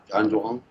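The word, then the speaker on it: Zhan Zhuang: practice, which is called Inside Zhang Zhuang, or Zhang Zhuang, or however we pronounce it. You might be able to correct me as well. And that's close enough. You got it. Zhang Zhuang.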